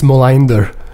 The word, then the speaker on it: Molander: How do you say it in the proper Scandinavian pronunciation? I think it's Molander. Wow. When I say that to Swedish people, their eyes light up.